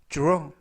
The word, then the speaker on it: draw: 이번 표현은 draw, draw, draw 라고 발음하시면 되겠고요. 이때 dr 발음이 주루, 주루, 그래서 draw 라고 발음하시면 되겠습니다.